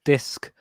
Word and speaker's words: Disq: There's a newish band called Disc, but it's spelled DISQ.